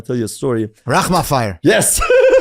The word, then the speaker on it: Rahmanfar: Rahman fire. Yes. Rahmanfar.